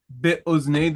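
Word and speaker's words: בְּאָזְנֵי: Be'oznei. This is a kamatz katan, as it is in a closed, unaccented syllable. The accent, as you can see, is on the last syllable. So be'oznei.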